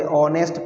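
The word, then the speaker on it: honest: इसको हम ओ पढ़ते, ऑनेस्ट पढ़ते। अब ये भले ही यहाँ पे इंग्लिश का स्वर है ओ, लेकिन इसको पढ़ते क्या है, वह, तो यहाँ पर एन नहीं आएगा।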